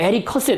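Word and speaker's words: Mary Cassatt: 자, 그래서 딱 보시면 아시겠지만은요, 이제 드가의 제자라고 하긴 그런데, 그러니까 메리 커셋, 이게 발음을 그냥 원어민 대로 제가 발음을 했습니다.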